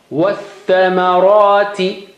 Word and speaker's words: وَالثَّمَرَاتِ: وَالثَّمَرَاتِ You don't say wa-thamara. You don't take, as I said, you don't have time to stretch wa. By the time the tha will die. So you have to help tha, because asking for help. Shadda is, stronger help sign. So you got to help. So just jump to tha.